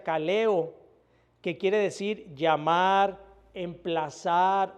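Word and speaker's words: καλέω: Y siempre que Pablo habla en sus escritos del llamado de Dios, utiliza una palabra griega que se pronuncia kaleo, que quiere decir llamar,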